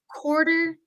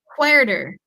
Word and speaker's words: quarter: 45 picture number two or we can say Quarter Two Eleven Quarter Two Eleven so I want to share a quick pronunciation tip with you guys this word quarter